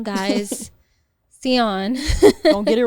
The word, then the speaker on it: Tsion: Asia ASI a it's pronounced seon guys seon don't get it wrong yes and then if